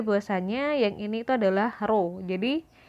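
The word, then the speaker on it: rho: yang ini tuh adalah roh Jadi kalau ditulis dia tulisannya adalah erhao tapi dibacanya Roro kemudian Oke sorry i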